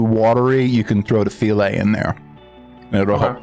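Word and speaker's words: filé: It's spelled like the word file. It's file. Yeah. I have that actually. But it's pronounced filet.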